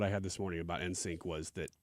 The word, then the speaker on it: NSYNC: had this morning about insync was that insync not insync it's in sync is an i in but you're saying it like it's just the letter yeah N